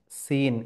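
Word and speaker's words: س: ছোট সিনের উচ্চারণের ক্ষেত্রে মনে রাখবেন যে সিটি টাইপের একটা আওয়াজ বেরিয়ে আসবে মুখ থেকে।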